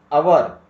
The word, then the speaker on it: hour: Our, our. Don't say hour. Our.